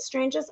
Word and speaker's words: Stranges: Stranges?